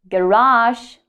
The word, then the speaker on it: garage: Garage or garage. So both options are correct.